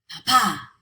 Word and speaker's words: papá: They should be stressed on the second to last syllable, but they're not. We stress them elsewhere, so we have to write in the accent mark.